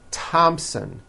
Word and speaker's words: Thompson: like to point out although these next words and names are spelled with a th they are pronounced as if they were spelled with a normal t t like that and